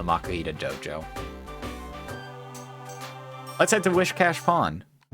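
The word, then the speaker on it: Whiscash: from old day is where i misread it as wiss as instead of with cash wish cash seeing children at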